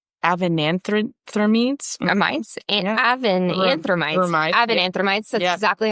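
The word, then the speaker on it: avenanthramides: Avenanthromides.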